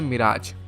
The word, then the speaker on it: Mirage: माइरेज नहीं बोलते इसको, ध्यान रखना, इसका न्यू प्रोनाउंसिएशन है मिराज।